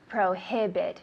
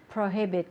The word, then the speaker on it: prohibit: good they're similar but we need to pronounce the h prohibit tell me in english prohibit perfect and to prohibit